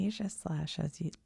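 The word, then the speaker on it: Aegislash: Eja Slash has long been seen as a symbol of royalty.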